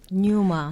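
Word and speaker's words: πνεῦμα: 뉴마. 예. 피우마라고 하지 않고 누마라고 푸마. 발음한 거예요. 그 처음에 피가 묵음입니다. 묵음.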